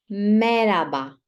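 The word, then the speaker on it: merhaba: okay say Lam ba meraba meraba as you might have noticed we don't pronounce h sound but usually in Turkish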